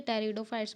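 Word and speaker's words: Pteridophytes: टेरिडोफाइट्स बोलते हैं हम इससे, इसमें पी साइलेंट होता है, ठीक है।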